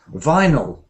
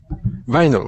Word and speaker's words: vinyl: plastic D vile yeah but we don't say say it like that in English do you know how we say this word in English um no no no vinyl vinyl okay vyl vinyl yeah okay